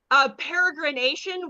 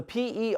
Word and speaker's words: peregrination: So Perigrination. I think it's Peregr. Okay. It is like peregrine falcon. It's spelled the same way, but it's peregrination.